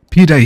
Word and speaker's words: pide: Pide.